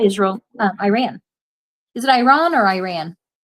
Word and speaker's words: Iran: I ran so far away. Was that not the song? No, I've actually talked with Iranians and they pronounce it Iran.